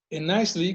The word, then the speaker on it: Islay: En Islay, como mencionamos, está en la costa oeste de Escocia, pronunciado Isla o Islay. Esta es la isla con la mayor producción de whisky.